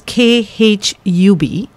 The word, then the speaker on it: Khubsoorat: Please do spell it. So it is basically Khub, which is KHUBSOORAT collection by Mani Kohli.